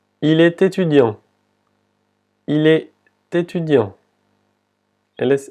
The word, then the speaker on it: étudiant: La E con el acento agudo se pronuncia como la E en español. E. E. E. Étudiant. Étudiant. Y otra vez la T, la última T no se pronuncia.